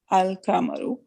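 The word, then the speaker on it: القمر: No such assimilation takes place with the lunar letters. For example, Al-Kamaru, the moon, is pronounced Al-Kamaru.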